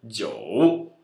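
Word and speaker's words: 九: Mas o I e o U, assim como no 6, deve ser pronunciado como Yo. Então, Jiu.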